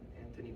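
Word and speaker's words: Antony: Sorry, Anthony, I keep forgetting that he doesn't pronounce the H. And Anthony Blinken, this foreign minister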